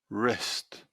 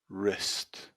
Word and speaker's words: wrist: letter w answer answer two two hole hole wrist wrist there are other examples of words with these